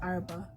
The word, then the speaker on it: Araba: r a b a i put the h's in there to emphasize the letters because people mispronounce my name a lot so the h is